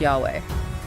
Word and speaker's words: Yahweh: And they introduce us to the most sacred and profound Hebrew name of God, YHWH. Often pronounced Yahweh, the Tetragrammaton.